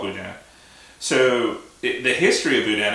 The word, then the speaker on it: boudin: So right now we have boudin, which is a sausage, and is that how you pronounce it? Yeah, boudin. Yeah, you call it boudin.